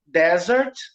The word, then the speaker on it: desert: E a segunda palavra é desert, tá? Com um S só. e a sílaba tônica é a primeira.